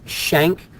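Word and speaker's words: Schenck: was an important case it's pronounced shank versus United States shank was his last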